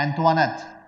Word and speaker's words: Antoinette: इसको मेरे को प्रोनाउंस करने नहीं आ रहा क्योंकि ये फ्रेंच नेम है। ठीक है। तो मैरी एंटवानेट भी कहते हैं, एंटियोनेट भी कहते हैं, मैं एंटवानेट कहता हूं।